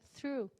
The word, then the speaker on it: through: E o TH, ele é sutil, então vocês podem fazer through. Não precisa ser forte. Through, não. Não precisa, porque não vai sair e vocês vão acabar cuspindo. Faz de levinho. Through, ok? É bem de levinho.